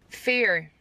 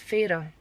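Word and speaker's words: Feyre: And then the last one for now, Fair. F-E-Y-R-E. Fair. No, it's Farah.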